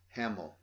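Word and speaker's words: Hammill: and i love his vocal uh peter uh hamill that's how you say his name this album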